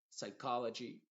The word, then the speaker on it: psychology: que empiezan con PS la p es muda y la s suena como s por ejemplo psychic psychology eh qué más penem